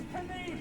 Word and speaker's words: knee: Yes, we used to pronounce the K in the front of words. So this is a knee. Those sequins on ponies are knights. That weapon is a spear. Lots of words have silent K's.